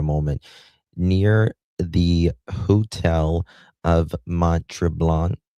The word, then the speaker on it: Mont-Tremblant: I'm going to show you that security footage here in a moment, near the hotel of Mont-Tremblant. Am I pronouncing that? I'm not. Yeah, Mont-Tremblant.